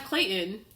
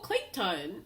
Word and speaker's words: Clayton: this back and hear how everyone else pronounces Clayton as Clayton. And hear the distinction between her, even himself, and her being like, oh, Clayton.